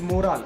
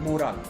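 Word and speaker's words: morale: about it it is not moral it is moral m-o-r-a-l-e right moral it's pronounced as moral and morally something different right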